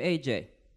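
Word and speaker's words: Ajay: So I spell it like A-J-A-Y because it's unconquerable, as opposed to just like the letters of my name, which is my initials.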